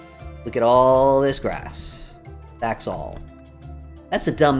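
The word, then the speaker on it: saxaul: Yeah, so it's pronounced all. Like the word all. Look at all this grass. Saxual.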